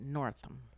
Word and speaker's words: Northam: I think they pronounce it Northam.